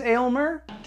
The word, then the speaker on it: Aylmer: i know that it's not pronounced elmer it's elmer the movie goes out of its way to tell you that his name is aylmer elmer aylmer a-y-l-m-e-r an old english word